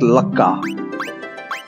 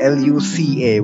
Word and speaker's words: Lucca: Fun fact, based on the spelling, I actually used to pronounce her name as Lucca. Because Luca would be L-U-C-A, wouldn't it? Not double C. It was only later that I learned that it's supposed to be pronounced as Luca.